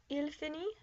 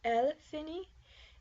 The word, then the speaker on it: finit: He finishes, il finit. She finishes, elle finit. And one finishes, on finit. Also notice that the T is not pronounced.